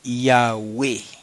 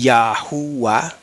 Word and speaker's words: Yahweh: Como ahora algunos están diciendo Yahweh y Yahuwah, añadiéndole una U ahí donde no va.